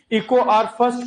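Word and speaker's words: EcoRI: से ऑब्टेन किया गया इको आर फर्स्ट बोलते हैं, तो इको कई बार इसको इको आर ही पढ़ देते हैं, आई नहीं, ये फर्स्ट है, इको आर फर्स्ट कहते हैं।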